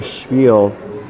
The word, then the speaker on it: spiel: And I was making that joke because some people call it a spiel, and technically it's just a spiel, no sh sound, So we're all square here at 2 as rocks are in play.